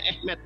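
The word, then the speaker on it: אמת: bahasa ibraninya aleb memtab dibacanya apa tulisannya Emet dibacanya ehmet ternyata Yesus ini adalah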